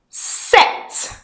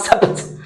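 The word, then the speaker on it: sept: Set set. You don't pronounce a P. Yeah. Those of you have been saying separate, it's not separate.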